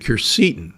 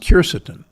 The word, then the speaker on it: quercetin: How about polyphenols like resveratrol and quercetin, sometimes pronounced quercetin?